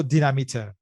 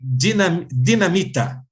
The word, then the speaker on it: Dinamite: The right way to speak in Portuguese would be dinamite. Dinamite or dinamite. Dinamite. And yeah. In Spanish, they say dinamita.